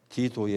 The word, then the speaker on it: 디도: 로마 장군 디도에 의해서. 로마식 발음으로 하면 티투스입니다.